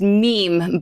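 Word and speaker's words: Mîm: a crazy person yeah it's actually pronounced meme but it's spelled MIM so it's one of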